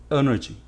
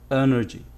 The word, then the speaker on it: energy: this is wrong it's energy energy the stress is on the first syllable the first syllable is